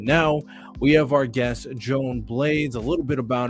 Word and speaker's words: Joan: here no problem no problem is it uh Joanne or Joan how do I pronounce it Joan all right excellent so to